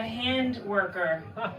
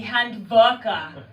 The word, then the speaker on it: Handwerker: They call it, or Germany, they call it a hand worker, which I think makes me sound like I give hand jobs for a living. My German friend said it's because I'm mispronunciating. It should be Handwerker, which I think makes